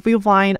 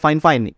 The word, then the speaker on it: FIFINE: Yap, walaupun tulisannya Vivine, tapi kita bacanya Fine. Itu saran dari marketingnya sendiri. Dibacanya atau dipronunsinya yaitu Fine, bukan Vivine atau Vivine. So, jadi kali ini kita bakalan sebutnya ini Fine ya, bukan Vivine.